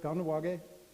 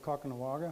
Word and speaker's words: Kahnawake: This is our reserve, Kahnawake. When I was a kid, it was called Kakanawagha. I don't know why it's changed. Maybe that's the Brooklyn pronunciation, because a lot of my relatives were from Brooklyn.